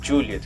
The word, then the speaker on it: Juliet: E a próxima particularidade do Juliet é a pronúncia. Como vocês podem ver, até agora eu pronunciei Juliet, que é como está indicado lá no PDF do ICA 112. Porém, pessoal, é extremamente raro o pessoal aqui no Brasil falar com esse sotaque, Juliet.